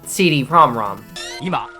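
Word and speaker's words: CD-ROM²: extension, 1988's CD-ROM 2, or as it's officially pronounced, the CD-ROM-ROM.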